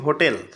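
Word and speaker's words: hotel: তোমরা দেখো, এখানে আমরা একটা ওয়ার্ড পেয়েছি হোটেল। এইচ আছে না শুরুতে? দেখো তো, অবশ্যই এইচ আছে। এইচের উচ্চারণ কিন্তু হয়ের মতো হয়েছে।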